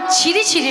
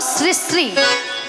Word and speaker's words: শ্রী শ্রী: আরে মাসি, ওনার নাম ছিরি ছিরি নয়, হ্যাঁ। বলো শ্রী শ্রী। সিঁড়ি সিঁড়ি সিঁড়ি সিঁড়ি সিঁড়ি সিঁড়ি সিঁড়ি সিঁড়ি। আমি সিঁড়ি সিঁড়ি বলছি না, আমি বলেছি শ্রী শ্রী।